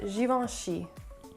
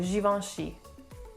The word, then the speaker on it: Givenchy: pronounce this word but in the french language one thing you should know is that the ch is never a chi it's always it's more